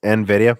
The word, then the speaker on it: Nvidia: a lot of questions popping up here it's pronounced Nvidia I know but I still say in the